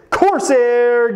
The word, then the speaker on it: Corsair: This one rhymes with Broair, Malair, Prefer, Jamair. Can you guess it? It is a steal a deal stock, and it is Corsair Gaming CRSR, next one